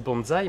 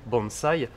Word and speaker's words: bonsaï: mai 15 et d'ailleurs tu sais en français ça s'écrit avec un s et on devrait le prononcer bon ça y passe